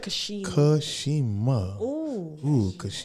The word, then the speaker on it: Cashema: that again he said he said my name with all the syllables say it again he said Kashima I kind of felt